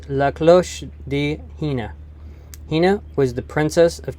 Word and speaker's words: La Cloche de Hina: looked up the story the pronunciation is la close di hina hina was the princess